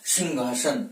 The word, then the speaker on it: सिंहासन: महत्वपूर्ण नियम है कि अगर अनुस्वार के बाद में है आता है तो है का उच्चारण किस रूप में होता है, घ के रूप में होता है। इसका शुद्ध वाचन क्या होता है? सिंहासन।